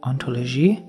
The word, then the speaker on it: hauntology: existence of being so hauntology is a pun on that right and it works better in French where the H is silent antology I don't know how